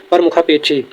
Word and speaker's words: प्रमुख: लिखा है प्रारंभ है इसका जो सही उच्चारण होता है वो होता है प्रमुख इसका जो सही उत्तर